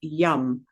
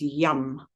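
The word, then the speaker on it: yam: So, the seed mantra for Anahata chakra is yum. So, you might see that um spelled y a m, but it it tends to be pronounced slightly like a u, so it's yum.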